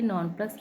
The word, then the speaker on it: nonplus: Nonplus rhymes with thus.